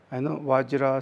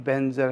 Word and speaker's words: Vajra: That's and there's sometimes another pronunciation in the Tibetan. They say Om Benzer Sattva Hom. So it's both are same. It's slightly different pronouncing, the Om Benzer or Om Vajra. So the Vajra is more like a Sanskrit, the pronunciation.